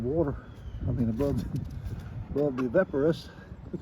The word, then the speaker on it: Evapo-Rust: Correct pronunciation is Evapo-rust, like evaporating. It is not evap, it's vap. It's clearly said, it rhymes with map.